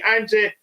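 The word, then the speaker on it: Ange: Okay, is that how you say Angie? Okay, Angie. That's how you pronounce his name.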